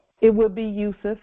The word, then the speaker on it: Yusuf: It would be Yusuf. It would be Yusuf or Yosef, because there was no J back then.